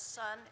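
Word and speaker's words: Son: The title is Sun, and that's spelled S-O-N, not S-U-N.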